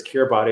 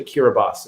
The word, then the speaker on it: Kiribati: talk about the island of kiribati um which is spelled kiribati and i've always thought of it as kirby it's this island in the middle of pacific but it's actually kiribati and he kind of shares a little story